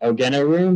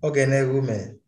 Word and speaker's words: Ogenerume: Sorry if I mispronounce your name, but Ogenerum, is that right? It's pronounced as Ogenerume.